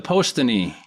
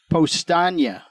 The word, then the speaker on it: Powstanie: The po the post the the Poston. Poston. Mike was closer. Oh, okay. Mike usually is closer. Postagna is how you pronounce it.